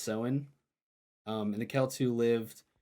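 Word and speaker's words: Samhain: heck you want to say that but it's pronounced seen um and the kelu lived 2,000 years ago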